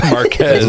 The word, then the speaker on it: Marquez: Marquez.